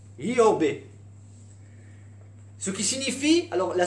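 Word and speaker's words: איוב: Dans la langue originale, il se prononce Yobé.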